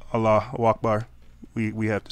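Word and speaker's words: Allahu Akbar: oh my gosh really you can't even say it right is that how much of this it is that how much we're hicking we can't even say out Allah Akbar we have to say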